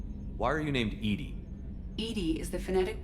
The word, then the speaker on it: EDI: is a jar why are you named Ed Ed is the phonetic pronunciation of Ed I that is an acronym